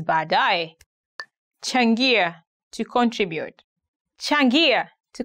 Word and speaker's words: baadaye: He had a very hard time saying baadaye. He used to say baadaya, baadaya, which is quite different. But now he made it up. He's okay. He says baadaye.